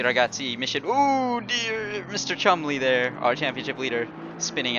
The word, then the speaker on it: Cholmondeley: So I pointed out last week, that is not the right way to pronounce it, Cholmondeley. It is Chumley. So Sam Chumley. It is an old British name.